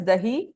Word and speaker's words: dahi: Like the name suggests, it's yogurt is dahi and tadka.